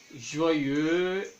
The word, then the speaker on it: joyeux: Joyeux, heureux, noir, voix, époux. Al final de las palabras no se pronuncia la X.